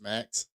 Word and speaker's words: Max: Um, because I actually I dumped Max, which was called HBO Max, pronounced as Max.